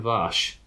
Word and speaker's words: Warsch: Well, knowing my bits of German that I do, aren't W's pronounced V's? Wolfgang Warsch, I think, would be, I think, of the correct pronunciation.